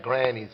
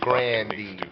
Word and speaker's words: Grandy's: Back then, you had that Granny's on the corner. They were Grandy's, if you want to pronounce it the right way.